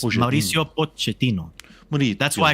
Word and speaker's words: Pochettino: It's Mauricio Pochettino. That's why I called him Poch, because that is how you pronounce Pochettino.